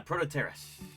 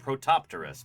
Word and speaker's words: Protopterus: Protoeras. also heard people pronounce it protopterus, but I don't think that's legit.